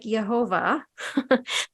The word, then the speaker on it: Thiaoouba: So it's called the Jehovah Prophecy, but it's not spelled like it sounds. So it sounds like Jehovah.